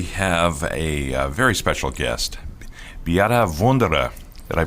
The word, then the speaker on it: Beate Wunderer: And today we have a very special guest, Beate Wunderer. Did I pronounce that correctly, Beate?